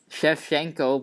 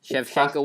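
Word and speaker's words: Shevchenko: up right now mate Chev shenko but it's it's said look it's actually spelled chevchenko Chev shenko Chef shenko where's the other s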